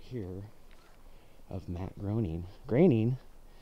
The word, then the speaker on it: Groening: Groening, a lot of people pronounce it Groening, but it's actually Groening, which reminds me of Portland's raining.